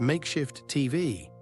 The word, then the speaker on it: MkshftTV: Welcome to MkshftTV, pronounced Makeshift TV, because vowels are a luxury in this economy.